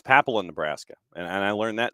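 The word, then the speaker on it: Papillion: Has he figured out how to pronounce Papillon, Nebraska yet? Because it took me forever. I used to say Papillon, Nebraska just because of the movie, but apparently it's Papillon, Nebraska, and I learned that the other day.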